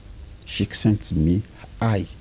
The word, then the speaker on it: Csikszentmihalyi: psychologie du bonheur, dont l'auteur dont il faut prononcer le nom comme suit, Csikszentmihalyi.